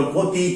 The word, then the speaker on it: ক্ষতি: থাকে, তাহলে ক্ষীয়র আগে, যে ক্ষীয়র আগে হর্ষইকার আছে, দেখো সে একে গ্রহণ করলো, ক্ষতি, খেতি।